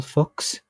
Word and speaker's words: Fuchs: Can you spell fuchs? It is Fuchs.